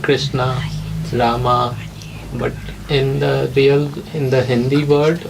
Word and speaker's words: Rama: I mean, like in Hindi they would say Rama, We'll still say Ram. Not but A. Ram is not correct because it's Rama. When you spell it in English, it becomes Rama. No, but if you look at the Sanskrit, is two words. It's Rama. You cannot just chop off the A.